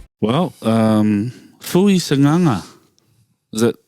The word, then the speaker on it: Sagaga: Sananga. Yeah. Where's the N in that? Man, it's the pronunciation. It's kind of like a N, like almost like a nana. Yeah. Nana. Yeah. Because there's Sanganga.